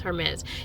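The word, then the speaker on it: Hermès: Um is it May or Hermes? Hermes.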